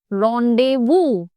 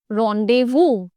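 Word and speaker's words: rendezvous: you pronounce this word don't say range वस से रोंडे वू एट द एंड द S remains silent रोंडे वू रोंडे वू means a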